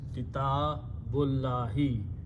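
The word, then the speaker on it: كتاب الله: When we read them together, we do not pronounce this alif, so it becomes kitabullahi, which is the book of Allah.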